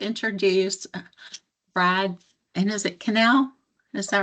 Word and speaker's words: Cannell: And so what I always say is I'm pretty sure I'm the one who's saying it wrong at this point, but it's Cannell like channel without the H.